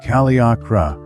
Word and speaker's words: Kaliakra: Cape Kaliakra, pronounced Kaliakra, from the Greek Kalietine Kret, is a long